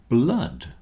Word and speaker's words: blood: as I've just said the word flood rhymes with mud and so does blood flood blood both rhyme with mud unfortunately my computer image